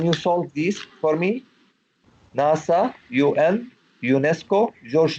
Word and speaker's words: NASA: a speaker pronounce it he said NASA he did not say mas a correct so he's like